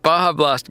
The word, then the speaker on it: Baja Blast: Oh, it's pronounced Baja Blast.